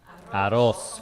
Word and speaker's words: arroz: You gotta roll the R. Arroz.